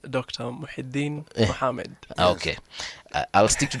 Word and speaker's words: Muhyidin: Muhyidin. Did I say it correctly, Dr.? It's pronounced Dr. Muhyidin Mohamed.